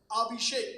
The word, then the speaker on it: Abhishek: remove my name tag and I put the pronunciation of my name on my chest saying Abhishek because if you read Abhishek shek doesn't make